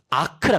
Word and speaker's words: arc: 이걸 어떻게 읽냐? A, R, C. 사인이라고 읽어. 이 ARC가 뭐냐? 아크라 그래. 아크 사인 X라고 읽어.